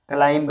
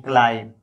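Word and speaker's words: climb: उसी तरह इसको लैम, क्लाइम, क्लाइंब नहीं क्लाइम।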